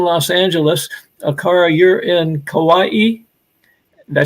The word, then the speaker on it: Kauai: because she's in Los Angeles acara you're in Kauai did I say it right yes yeah and